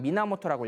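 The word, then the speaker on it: 源: 겐페토키스 할 때는 이렇게 음으로 읽지만 하나로 읽을 때는 미나모토라고 읽어요.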